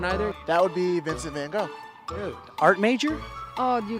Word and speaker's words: Gogh: That would be Vincent van Gogh. Dude, art major? Oh, you got me on that one. Oh, that was, what's his face? His last name rhymes with go. Van Gogh.